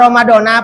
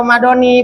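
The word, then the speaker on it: رمضان: tuh itu sempurnanya niat dibacanya ramadona apa ramadoni boleh ramadona boleh ramadoni boleh jangan berantem gara-gara ramadona sama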